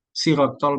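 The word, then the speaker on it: صراط: Biasanya kadang-kadang nulisnya dengan huruf A tapi bacanya sirat kayak kata Allah dibaca Allah.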